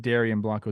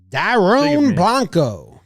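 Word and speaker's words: Dairon Blanco: yeah yeah pronunciation yeah I said Darian Blanco it's Dome Blanco wow apologies wow Daron Blanco that's a cool name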